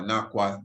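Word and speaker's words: Naqa: In the temple of Naka, or Nakwa, depending on how one would pronounce it, built by the rulers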